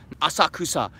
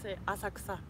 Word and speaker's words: Asakusa: for everyone who tells me and Chris my pronunciation is cooked as Kusa Asakusa people say Asakusa i don't know what why everyone's corrected my